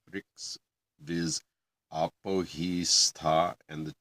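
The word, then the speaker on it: Ṛk: All these 9 Riks must be repeated. And when I say Rik, it's because it's spelled R with a dot under it, K. R is the vowel. Don't ask. As in Rig Veda.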